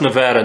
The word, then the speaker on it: Nevada: a little something and it's pronounced nevada not nevada it is nevada right honestly i don't know